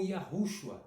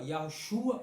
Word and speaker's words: Yahushua: Ou também salvação de Yahu, ou Yahushua também. Você pode colocar a sílaba tônica, sei lá, no Shua, Yahushua ou Yahushua. Entendeu? As duas pronúncias estão corretas. Yahushua ou Yahushua, tanto faz.